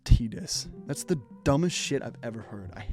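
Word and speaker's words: Tidus: why the is his name pronounced tdis that's the dumbest i've ever heard i hate that it's like a game all about water so why isn't his name tied us this game but i really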